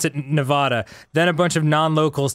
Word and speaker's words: Nevada: not Nevada.